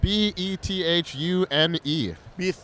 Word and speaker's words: Bethune: is what was your last name Bethune uh Bethune yes Bethune sorry dude how do you spell that b-e-t-h-u-n-e Bethune wow that's a pretty interesting name it's